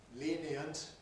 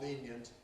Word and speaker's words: lenient: A choice in the sense that the speaker can freely choose whether to say lenient as three or lenient as two syllables.